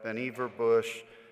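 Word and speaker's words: Vannevar Bush: funded research on this report from 1945 by benever Bush yes that is the way you pronounce the name of our patron saint here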